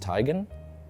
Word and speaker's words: Teigen: uh Chrissy Teigen who told me it's actually pronounced tygan I want to get that out there uh